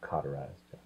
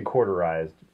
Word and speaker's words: cauterized: a flaming hot sword cauterized what did I say well you say quarterized which corduro right it sounds like it was like cut into quarters quarterized you're cized yeah it's